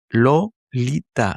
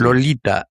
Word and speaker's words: Lolita: Lolita, la punta de la lengua emprende un viaje de 3 pasos, ¿no? Lolita, Tita, ujú. ¿no? 3 pasos, paladar abajo, o sea, poniendo el paladar,